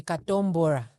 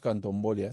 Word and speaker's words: Katombora: I'm told it's supposed to be Katombora. That is the correct pronunciation. Not Kantombolia, something. No.